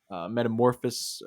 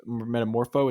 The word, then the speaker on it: Metamorpho: Uh, then there was the scene in the prison where Metamorphus metamorpho is how you say it.